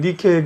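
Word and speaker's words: Nike: 나이키는 뭐 알고 계시겠지만 그 그리스의 승리의 여신 니케잖아요. 니케의 예. 영어식 발음입니다. 이게. 요게 이제 보면 루브르 박물관에 있는 니케 그 여신상이라고 네.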